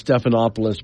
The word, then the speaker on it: Stephanopoulos: its anchor George sagus I know properly pronounce Stephanopoulos but I've never said it that way throughout all the years that he's been a broadcaster snuff lus said on the a